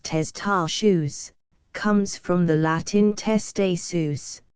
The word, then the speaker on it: testaceous: It is pronounced testaceous, comes from the Latin